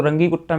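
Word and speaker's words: Runge-Kutta: कुट्टा method, या फिर इसको रंगी कुट्टा मेथड भी बोलते हैं, बट इसका करंट जो प्रोनाउंसिएशन है वो है रुंज कुट्टा मेथड।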